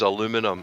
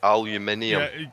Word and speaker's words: aluminium: Because he pronounced aluminium wrong. The metal of the future was aluminum, and everybody knows it's aluminium.